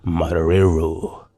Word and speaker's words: Marrero: District Judge Victor Marrero. I think you're supposed to roll your R's with that one right there.